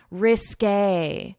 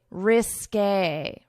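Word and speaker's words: risqué: So we pronounce it according to French pronunciation rules, which is when you have this accent to pronounce it as a risk a risk a risk a so that's how you pronounce it.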